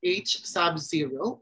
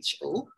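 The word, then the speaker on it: H₀: follow after this slide so ho pronounced as H Subzero or it can just be ho we have ha a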